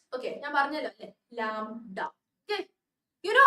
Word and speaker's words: lambda: How is lambda pronounced? Okay, ഞാൻ പറഞ്ഞല്ലോ അല്ലേ, lambda. Okay, you know how to pronounce lamb? Is it lamb എന്ന് പറയാറില്ലേ? ആണോ? അപ്പൊ അതിന്റെ അടുത്ത് ഒരു ഡ, lambda അല്ലേ?